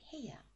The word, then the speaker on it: 部屋: We put it together with he, and we get heya.